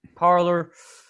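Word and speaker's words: Parler: speak um thank you it was originally intended to be pronounced as in french but is now pronounced as the english word parlor so there we go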